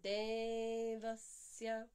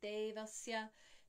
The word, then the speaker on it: Devasya: Devasya.